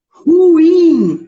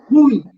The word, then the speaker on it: ruim: Ruim, não é ruim. A pronúncia correta é ruim. A sílaba forte é a última, ela é uma oxítona, tá?